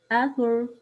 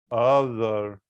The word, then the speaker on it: author: Other. No, it's not that. It's tah, like ثعلب. Author. Other. Not other, not other, not other.